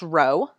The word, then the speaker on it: rho: like a lower caste case P but it's pronounced Rho okay if there's no correlation Rho equals zero